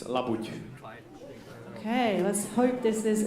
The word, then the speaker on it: labuť: It's labuť. Okay, let's hope this is an easy swan, right? Patrick, are you ready? Okay. And guess what it is? It's a whole milk labuť, or swan.